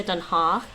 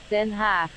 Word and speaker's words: Den Haag: And actually, while I'm there, just to get this pronunciation right, I used to say Den Haag, but it's not, I don't think. Let me see. Den Haag. Den Haag. Den Haag. Not Haag.